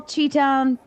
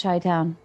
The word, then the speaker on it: Chi-Town: Do you know why I call Cheetown and not Chi-Town? I like your song. Because you butchered it the first time and you just stuck with it?